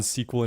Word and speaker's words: SQL: I'm going to pronounce it SQL from here on out. I've heard it as SQL, but SQL.